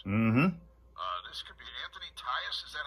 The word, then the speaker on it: Tyus: This could be Anthony Tyus. Is that how you pronounce his name?